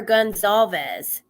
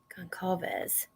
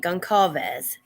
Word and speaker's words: Goncalves: oh that's isn't waiting they called her Gonzalez what did they say concovez that's how you say it gonkavez not gone police she's tracking down her